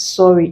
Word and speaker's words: sorry: belongs here as worry the word sorry doesn't fall here sorry it's actually pronounced as sorry it contains the o sound the short all sounds so let's be guided